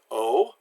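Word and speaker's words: eau: mess this up so a you is always pronounced like oh so the word Oh meaning at the the word Oh meaning water and OH meaning to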